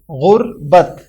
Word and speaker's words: غربت: درست تلفظ والا لفظ ہے غربت، یعنی غین پر پیش، رے پر جزم، بے پر زبر اور تے پر بھی جزم، غربت۔ اور آخری سوال ہے